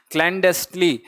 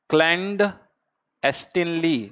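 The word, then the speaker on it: clandestinely: क्लैंडेस्टली क्या है ये? इसको मेरे साथ प्रोनाउंस करो इसको, क्लैंडेस्टिनली। देखो क्लैंडेस्टिनली क्या है? क्लैंडेस्टिनली, क्लैंडेस्टिनली, है ना, ऐसे बोला करो आप इसको, किसी भी चीज को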